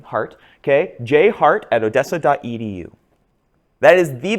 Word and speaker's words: Hardt: JHARDT, D is silent, silly Germans, right? It's the German name, Hart.